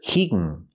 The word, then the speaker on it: he can: Pronunciation: we hear hegen. He can be pronounced hegen. He's waiting until they call his number so he can go talk to somebody. Keep watching for a complete explanation of why we pronounce can like hegen.